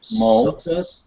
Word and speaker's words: Mull: I don't know how to pronounce his last name. Mull.